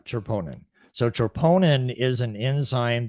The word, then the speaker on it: troponin: to our audience what tremponian am i saying it correctly is opponent troponin there we go troponin so troponin is an